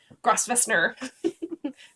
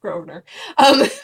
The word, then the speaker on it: Grosvenor: That feels like Grossvestner. It's Grosvenor.